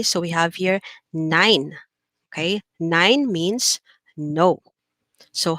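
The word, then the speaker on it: nein: have remember this one your diphthong e and i so we said there always look at the last letter there i so e and i put together is pronounced as i so we have here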